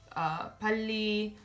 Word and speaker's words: 빨리: we learned is that when lir appears between a vowel and a consonant or is followed by another lir, that it's gonna be an L sound. So 빨리, 말씀, 발다, and 얼마나.